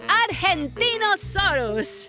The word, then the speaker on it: Argentinosaurus: Diva I'm the Argentinosaurus whoa that is a big name for a big Dino I have to break it up to say it right R gen teen oh sore us that's me so I'm